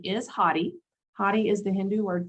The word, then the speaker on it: Hathi: sometimes you'll hear a lot of people say hoffy trust or happy trust if you're me from the south uh the correct pronunciation is hottie hottie is the hindu word for elephant which